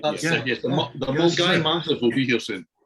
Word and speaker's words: Milngavie: team on should be Milne Gavi, Milngavie, Milne Gavi. Now in Scotland you pronounce that Mulgai. Okay, I have no idea why, but that is Mulgai.